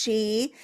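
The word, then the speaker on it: sidhe: see it written s d he e it's pronounced she so um so now you know something we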